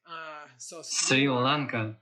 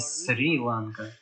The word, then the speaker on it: Шри-Ланка: название которой исковеркано вечно, это Шри-Ланка, это не Сри-Ланка. Просто исчезла точка снизу.